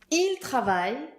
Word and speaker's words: ils travaillent: And ENT that you never hear at the end of the verbs. That's the same thing. Written literally, ils travaillent, pronounced, il travaille.